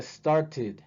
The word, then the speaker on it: started: Si termina con T, la ED se va a pronunciar como ID. Entonces sería started, started.